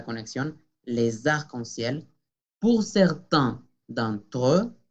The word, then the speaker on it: d'entre: Por certains d'entre, nasal d'entre, y la E francesa, d'entre.